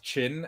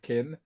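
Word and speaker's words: Qin: i think is that the chinese deck is called chin and not kin so don't don't get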